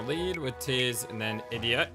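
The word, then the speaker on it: Edea: which is and then idia idia apparently that's how you say your name not or ideia idia I don't know if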